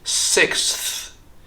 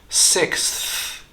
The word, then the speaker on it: sixth: pronounced as sixth sixth there are two many consonants getting stuck together and it almost sounds like Slavic language and for that reason many people tend to cheat on this one instead of saying six we say six six just remove that s sound in the X and put the th sound right after the K sixth sixth sixth